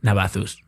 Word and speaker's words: Navazus: Okay, at Navathus. Navathus? Yeah. You're gonna have to spell that in the American alphabet.